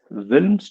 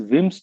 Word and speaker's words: Wilms: I am pronouncing it as L as this is Wilms tumor with pronunciation of L, but actually it is Wim's tumor. L is supposed to be silent here, huh?